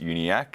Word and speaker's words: Uniacke: It's just uniak, so you just forget the e.